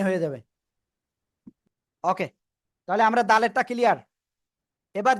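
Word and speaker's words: دال: আসি ঠিক আছে তাহলে দালেরটা আমরা ক্লিয়ার হয়ে গেছি তাই না দালেরটা সিম্পল উচ্চারণ দাল তিন আলিফ টান হবে শেষে এসে ল দাল কোন জায়গা থেকে জিহ্বার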